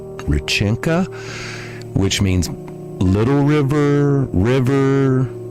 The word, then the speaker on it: Реченька: Anyway, I'm not sure if I'm going to if I'm going to pronounce this correctly, but I think it's pronounced Rin- Richenka?